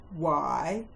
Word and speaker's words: why: The first set of words that have a silent H are the question hand words when, which, why, where, and what.